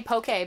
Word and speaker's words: POKEY: I've been doing some pokey experiments using two-tone and high-pass filters, so I'm going to introduce this into the music. We'll see how it goes. How do you pronounce P-O-K-E-Y? Pokey? Yes.